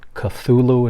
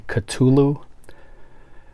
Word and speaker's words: Cthulhu: so there you get a lot of people mispronounce that first one they call it Cthulhu and it's actually Cthulhu the lurking fear Dagon